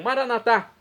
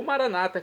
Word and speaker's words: Maranatá: E agora eu clamo Maranatá. do aramaico dialeto de Jesus, como dizemos nós católicos, com a tônica na última sílaba ou maranata, como dizem nossos irmãos das comunidades evangélicas ou protestantes.